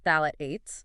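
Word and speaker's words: phthalates: So, phalates, first off, it's pronounced phalotates. Thalates.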